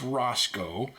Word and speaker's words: Rosco: Somebody said I mispronounced the name. So let's just be clear. It's Roscoe.